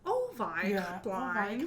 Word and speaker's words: Avi Kaplan: But he goes, Ovi Kaplan.